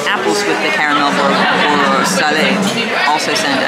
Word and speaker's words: salé: The caramelized apples with the caramel or salé also sounded. I think it's salé. If I pronounce that wrong, please correct me. S-A-L-E with a little thing on top.